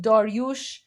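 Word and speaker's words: داریوش: So, uh Kuro Cyrus is pronounced Kurosh, Darius is pronounced Daryush, and Xerxes is pronounced Khashayar.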